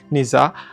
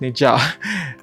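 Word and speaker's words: Nezha: There's this recent animation called Neza. I think it's pronounced Neja.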